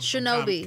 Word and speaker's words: Shinobi: It's pronounced Shinobi.